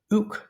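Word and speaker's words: οὐκ: me, which is softer, the K is at the end because phonetically it is followed by a word that starts with a vowel, so it's just easier to say ook instead of oo.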